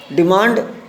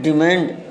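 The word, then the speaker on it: demand: डिमांड British उच्चारण है, डिमांड American उच्चारण है।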